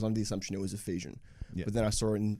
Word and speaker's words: Efesian: yeah unofficially so ogs you can call me a fesian but going forward it's Ephesian my mate uh one of my Mates is a teacher and he warned me with this project everyone's gonna pronounce it right um but wherever I go like people are pronouncing it Ephesian and grammatically it makes more sense as well so might as well